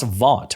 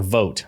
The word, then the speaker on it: Vought: You also have Russ Vought, or Vote, I think is how it's pronounced.